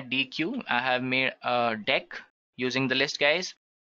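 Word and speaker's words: deque: It is written as DQ, but we can pronounce this as deck now talking about deck what actually it is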